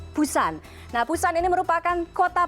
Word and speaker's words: Busan: Untuk pelafalannya, Anda bisa menyebutnya agak samar-samar, tipis-tipis seperti Busan. Jadi antara P dengan B, jadi kesannya atau terdengarnya seperti Busan.